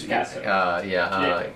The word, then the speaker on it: gesso: That's Gesso.